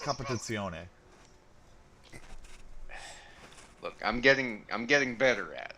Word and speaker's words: Competizione: Also, it's pronounced Competizione.